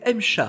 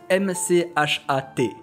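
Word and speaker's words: M-CHAT: Elle s'appelle le test du M-CHA. Du M-CHA? Alors non, rien à voir avec le félidé. En fait, ça se prononce M-C-H-A-T. Oui, c'est de l'anglais.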